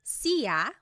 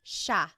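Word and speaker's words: siya: It looks like it should be pronounced sa, but it's actually pronounced sha sha.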